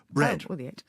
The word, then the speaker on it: bread: the a are you bread no you're not aesthetic the a isn't there bread the a isn't there